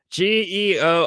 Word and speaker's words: Georges: It's his name, dude, Georges, but I'm pretty sure the S is silent, and then Melies, and